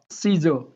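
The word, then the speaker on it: scissors: एस के तुरंत बाद में अगर सी आता है तो साइलेंट रहता है, जैसे हम सीन बोलते हैं। यह सेप्टम। ओके, सीजो, आर के मैंने ये डैश लगा दिया यहाँ, क्योंकि यहाँ पर क्या बोलेंगे? आर भी साइलेंट होता है। सीजो, लास्ट आर होता है, वोल के बाद में जो आर हो या लास्ट आर हो वो साइलेंट कर देते हैं। सीजो।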